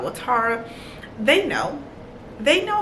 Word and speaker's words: Tara: But my name is pronounced Tara, but everybody pronounce my name Tara. So if I don't set the tone, as soon as somebody say, hey, this is Tara, you're going to keep calling me that because,